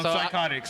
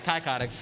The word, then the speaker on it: Psychotics: Psychotics. Psychotics. Okay. I was about to say Kycotics.